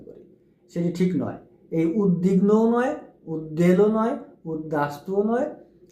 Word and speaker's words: উদ্বিগ্ন: যে উদ্বিগ্ন উদ্বেল উদ্বাস্তু উদ্বাহু এগুলো বেলায় আমরা ভুল করে উচ্চারণ করি সেটি ঠিক নয় এই উদ্বিগ্নও নয় উদ্বেলও নয় উদ্দাসতুও নয় উদ্দাবাহুও নয় এটি